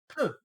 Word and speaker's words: pneu: English speakers have, because apparently the French word pneu, meaning tire, is quite difficult for English speakers.